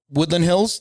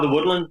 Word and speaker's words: The Woodlands: He is a first-degree black belt training out of Woodland Hills. Did you say it right? Woodland Hills, Texas, which is, did I say that right? Gracie Baja, the Woodlands, in the Woodlands, Texas.